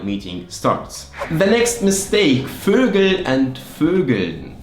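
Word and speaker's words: Vögel: starts the next mistake fergal and fergun like fergal is the plural from fogel which is bird like bird fogle and fergal birds and when you add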